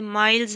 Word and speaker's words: Mills: ये word माइल्स है, इससे माइल्स प्रोनाउंस करना है, मिल्स नहीं।